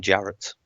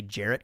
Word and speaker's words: Jaret: thought I could say jarrett correctly as a kid also it's weird that it rhymes with parrots and carrots super easy to make